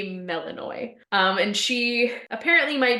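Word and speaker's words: Melinoe: to talk to melano I Googled the pronunciation of that name because some of these underworld creatures were meeting here like they got some names um it is apparently melano um and she apparently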